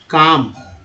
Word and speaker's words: calm: अब यहाँ देखिए LM है, LM को क्या बोलते हैं, LM को, LM से वर्ड है CALM, काम। L साइलेंट है, यहाँ पर साइलेंट लेटर वाला है।